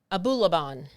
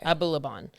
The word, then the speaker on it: Abulaban: So TikToker Ali Abulaban. That's exactly how you say it. Okay. Abulaban.